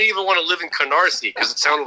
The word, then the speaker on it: Canarsie: want to live in canarsie because it sounded like no you you got to say it right konnosi i actually said it